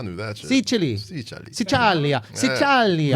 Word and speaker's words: Sicilia: Sicilia.